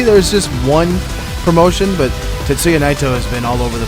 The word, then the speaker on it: Tetsuya Naito: It's Tetsuya Naito. The announcer can't say it right.